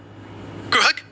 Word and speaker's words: Grug: Rhymes with grub. Grug.